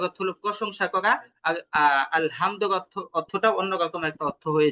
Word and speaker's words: الحمد: তো এই যে হায়ের জায়গায় সামান্য একটা ওই একটু চাপ দিয়ে না পড়ার কারণে কিন্তু অর্থ চেঞ্জ হয়ে যাচ্ছে। তো এটা আমরা উচ্চারণ করার ক্ষেত্রে আমরা এই বিষয়টা সবচেয়ে বেশি খেয়াল করব, আমরা হাটাকে চাপ দিয়ে পড়ছি কিনা।